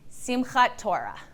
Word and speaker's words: Simchat Torah: And how do you pronounce that holiday again? Simchat Torah.